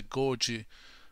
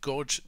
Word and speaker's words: Gorge: music festival at the gorgie amphitheater am i pronouncing this well gorgie beautiful oh wait no no wait you saw my georgia is it gorge gorge people know about